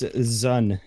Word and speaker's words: zuhn: It's Zun.